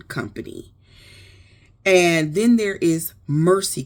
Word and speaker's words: Mersi: And then there is Mercy Cookware. That's spelled Mersi.